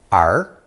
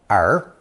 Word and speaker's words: 儿: From these various drawings, we arrive at another very common character, which adds 2 legs and is pronounced second tone, er, er.